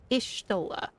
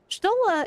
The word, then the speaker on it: Y'shtola: Ah, it's Y'shtola. That is by the way how her name her name is pronounced. Y'shtola. Y'shtola is actually her actual name.